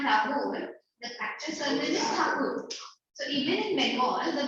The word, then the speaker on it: Thakur: So real name of the word, it's Thakur. So it's Thakur, and the Britisher does not like sound it. Britishers couldn't pronounce Thakur; they pronounced it as Tagore.